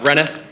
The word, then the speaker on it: Renee: pronounced that right uh Rena Rena Rena like Renegade Rena okay Rena uh